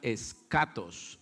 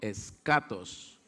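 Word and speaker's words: ἔσχατος: la escatología entonces viene de uno término griego que se pronuncia skatos harían conmigo skatos más suerte skatos ya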